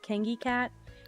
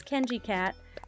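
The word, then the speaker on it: KenGcat: Also, I know a lot of people assume that my username is pronounced Kengi Cat. It's Kenji Cat, and it's because my nickname's Ken, and my initial is G, so it's Kenji.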